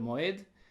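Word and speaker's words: מועד: presenta, que se vocaliza, se pronuncia Moad en el plural, Moed en singular.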